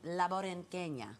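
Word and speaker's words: La Borinqueña: But let's talk about you and La Borinquena.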